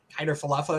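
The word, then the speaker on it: Kiner-Falefa: it's live of course but um ikf isaiah hyder falafa is how you say his name yes um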